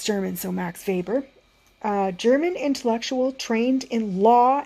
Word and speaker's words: Weber: It's pronounced Weber, but it's a W. So if you say Max Weber, I'm not going to mind, but I think it's German, so Max Weber.